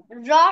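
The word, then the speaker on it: ر: জিহ্বার agar পিঠ, তার বরাবর উপরে তালুর সাথে লাগিয়ে এক আলিফ টেনে র মোটা আওয়াজে পড়বো, ঠিক আছে?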